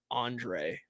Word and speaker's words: Andrus: Let's see, Andrus, as many do, they pronounce it like Andre.